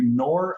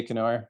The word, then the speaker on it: Knorr: that let me ask is the k silent are you nor or norm uh it is silent but it's it's easier to say canoer so i wish it